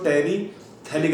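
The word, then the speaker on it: terephthalic: यहाँ पर pH silent होता है, क्या पढ़ते हैं इसको, टेरिथैलिक एसिड, पीएच को प्रोनाउंस नहीं करते हैं।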